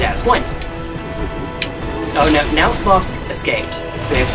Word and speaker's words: Smough: Or some people say Smough. I say Smough because there's another character in this named Goth, spelled the same way.